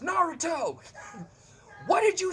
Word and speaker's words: Naruto: what a Nehru tow run is sir it's pronounced Naruto why did you say to me so but